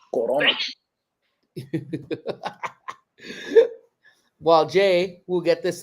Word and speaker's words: Corona: The only one I know how to pronounce correctly. Corona.